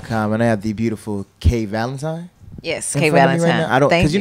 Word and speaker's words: K'Valentine: like a holiday yeah it's just pronounced it's like the holiday yeah man pleasure for